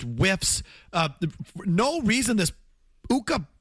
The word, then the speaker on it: Ukko: Uh No reason this Uka which rhymes with two this Pekka Luukkonen just likes to lift up his pad.